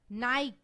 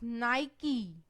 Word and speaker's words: Nike: Next is again a brand name, and we call it Nike. I think many of us call it Nike. That's incorrect. Its correct pronunciation is Nike.